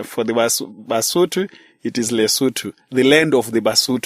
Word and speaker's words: Lesotho: people the indigenous people they they call it lutu but uh it is spelled l e s o t h o so most of us call it loto because of the way it is spelled but